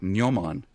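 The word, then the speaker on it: gnomon: memory um absolutely fantastic Noman uh spelled with a g g n o m o n which is the uh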